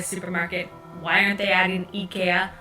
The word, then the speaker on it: IKEA: oh sorry sorry sorry yeah ikea ikea ikea is the swedish pronunciation just you know for